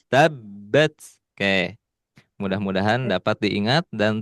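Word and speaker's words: تبت: Ingat-ingat di tabbat tekan. Ya, tabbat tidak tabat, tapi tabbat.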